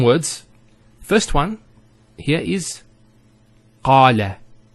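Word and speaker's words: قال: First one here is qala. Notice the elongation of the A sound.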